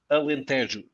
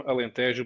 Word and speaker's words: Alentejo: Alentejo.